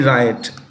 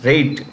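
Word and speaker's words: Raitt: is Bo anyway this is Bonnie b-o-n-n-i-e Bonnie riot Bonnie right singer writer Bonnie riot no no it's rate Bonnie rate I'm so sorry hey you know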